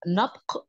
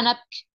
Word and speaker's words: نبق: هنقولها بالعربي عادي يعني دي نقولها نبق زي ما احنا بنقولها مش نقولها نبكي زي هما هيقولوها لا ليه هم لما